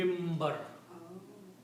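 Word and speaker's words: منبر: If there is a noon before the ba then noon is pronounced as meme.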